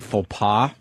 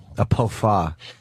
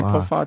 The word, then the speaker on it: faux pas: Today's show made a big faux pas. Oh no. What does Rich Voss call him? A pofas. Pofa, right? Jesus. Wait, did I just say pofa too? No, you said pofas. Oh, You said it right.